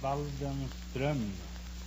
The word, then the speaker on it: Waldenström: No, it's an umlaut on the O. In Sweden, you pronounce the name Waldenström. Waldenstrom?